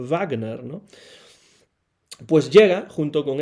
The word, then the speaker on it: Wagner: cierto, cuando era pequeño siempre pensaba que sería Wagner, ¿no? Con la W inglesa, igual que Wolf en el episodio lunar, pero evidentemente la pronunciación tendría que ser Igor Wagner, ¿no?